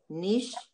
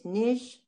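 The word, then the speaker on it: נשבעתי: It's Nishabati. It's a silent Shva. You have a silent vowel and a silent letter, so there's no sound. It's just Nishabati.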